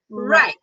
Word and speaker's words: right: So right, and then light, right and light. So for R we 卷舌, and for L the tongue is flat.